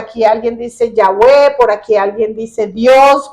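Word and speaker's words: Yahweh: Yahweé está escrito sin vocales, ¿verdad? Entonces, pero nosotros para poder pronunciarlo decimos Yahwe, pero se escribe y H wu o W.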